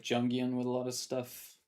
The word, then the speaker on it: Jung: Jungian, yeah, That's Carl Jung, so it's Car- pronounced as Young. Young.